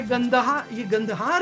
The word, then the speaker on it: कंदहार: ये गंदहार है, ये कंदहार तो मिस प्रोनाउंसिएशन है।